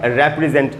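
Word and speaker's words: represent: तो प्रतिनिधित्व करना जब मीनिंग होगा इसका तो उच्चारण होगा रेप्रेजेंट, या अगर रेप्रेजेंट उच्चारण आप कर रहे हैं तो इसका मीनिंग होगा प्रतिनिधित्व करना।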